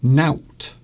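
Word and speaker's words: nowt: A good one is knout, N-O-W-T.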